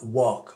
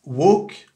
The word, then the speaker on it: walk: que de l'accent américain alors comment ça se prononce ce truc là work work d'abord c'est pas walk c'est pas WAC c'est waouh c'est un truc entre les deux d'accord vous partez du